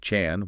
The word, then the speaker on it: CHAN: Most people know it as Achan, and remember it's pronounced like Chan, one syllable.